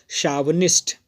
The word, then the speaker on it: chauvinist: It's pronunciation is शावनिस्ट।